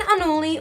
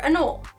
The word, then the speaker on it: anole: First is the green Anole or Anole. It seems that no matter which way you pronounce it, someone is going to correct you. I think that either is fine, but Clint at Clint's Reptiles goes with Anole, and who am I